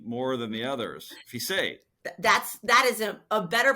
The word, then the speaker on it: Fiset: Fiset. That is a better pronunciation than I have of my own name.